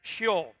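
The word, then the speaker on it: Sheol: that they're translating and that's shio which is s-h-e-o-l and that's not how it's spelled in hebrew they got different alphabet obviously but that's how it's that's basically how it's pronounced right and we translate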